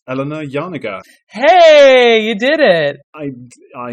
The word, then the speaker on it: Janega: I'm going to try my hand at pronunciation once more. It's Eleanor Janega.